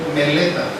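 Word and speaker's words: μελέτα: es una palabra que se pronuncia en griego meleta ocúpate tiene la idea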